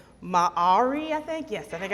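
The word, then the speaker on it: Māori: Maori? Oh, see, I've said it that way, and then people have told me differently. They said that you pronounce it M-A-H-A-W-R-E-E.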